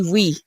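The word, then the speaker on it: oui: and how to say we so so in French it's sort of we if I was going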